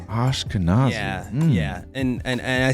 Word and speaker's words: Ashkenazi: And our son, she's a descendant of Ashkenazi Jews, I think is what it's called.